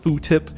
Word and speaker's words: FFOO Tip: Nidre at FFOO tip, properly pronounced foo tip.